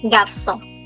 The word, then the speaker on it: garçon: J pour garçon. Garçon. For any questions, you can always use the chat section. Garçon. N is silent.